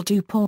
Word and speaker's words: Dupont: for example Vraig, and the pronunciation of certain local names, for example Dupont as Dippo rather than in the traditional Parisian fashion.